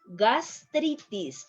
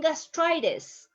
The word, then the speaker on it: gastritis: Gastritis. I'm not saying gastritis. Gastritis. Try to pronounce after me.